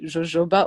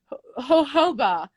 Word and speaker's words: jojoba: i was laughing at how i used to pronounce it jojoba oil not knowing it was a spanish plant and i was like and then i got like a minute it's not jojoba it's jojoba i was reading how